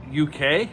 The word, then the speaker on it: Uk: much training of uh ook i guess uk that's how they say it on the screen i always think of united kingdom every time i read his name because i just say uk anyways we're not getting